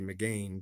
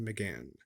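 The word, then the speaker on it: Mégane: pronounce that it looks like it should be Megan but uh over in Europe they pronounce it to Megan so we have these two vehicles let's take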